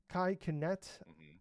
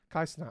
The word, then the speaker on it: Kai Cenat: We got Cadril, Kai Kinet, Moist Critical, Okay. Did I say it wrong? Kai Cenat.